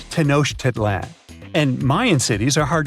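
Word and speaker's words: Tenochtitlan: It's Tenoshedlan. And Mayan cities are hard to pronounce, too.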